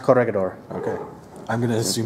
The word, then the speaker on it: Corregidor: pronounced Corregidor.